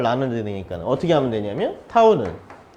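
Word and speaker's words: τ: 예, 요거를 뭐라고 읽냐면 타우라고 읽습니다. 타우. 예.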